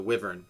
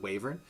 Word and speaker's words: Wyvern: wyvern or waiver and however you want to pronounce it i'm going to say they say pronounce it wavrun and if you guys don't like that that's my it's my world so that's how they pronounce it why so that's